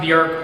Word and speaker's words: Björk: Bjork and beer interchangeably because her name is pronounced Bjork but I'm gonna I'm gonna say Bjork because I'm gonna mess up I'm gonna mess